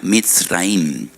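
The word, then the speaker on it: מצרים: esclavitud porque la palabra Egipto en hebreo se pronuncia mit raim y en hebreo hay dos MS dos letras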